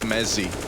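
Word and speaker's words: Mezii: It's pronounced Mezzi with a Z.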